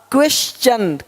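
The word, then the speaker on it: question: देख पा रहे हैं यदि कि शब्द के अंत में एस के आगे टी आई ओ एन हो तो टी के आगे य आर आए तो टी का उच्चारण च होता है देखो यहां पर टी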